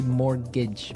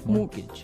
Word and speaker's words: mortgage: Yeah, it has a T in it, but you don't pronounce it. You say mortgage. Mortgage.